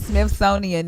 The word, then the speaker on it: Smithsonian: I'm sorry Nelly saying Smithsonian is like me saying Superfluous Superfluous super super Smith son how do you pronounce it Smith sonian okay the Smith sonian Institute